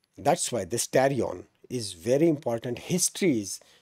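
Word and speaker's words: pterion: But yes, tarion is the perfect answer. Very good, right? Not the patarion, right? P is silent.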